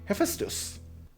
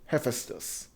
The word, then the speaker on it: Hephaestus: the purists know him hephaestus did i mispronounce that i it's in persian we call it a feistus but i don't know if it's closer because i've heard him called hephaestus so whichever is correct